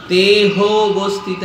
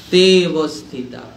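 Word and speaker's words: তেঽবস্থিতাঃ: ওটার উচ্চারণ কোন উচ্চারণ করতে হবে না, ওটা হচ্ছে আধা অ, ওর উচ্চারণ হয় না।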